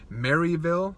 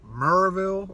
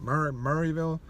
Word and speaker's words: Maryville: think it's called, in Maryville. I said Maryville. People started laughing at me. Apparently it's like Murrayville, or Murray, I don't even know how to say it. Murrayville.